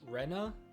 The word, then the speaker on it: Rena: Linz said that Reina's name should be pronounced Rena, which feels weird.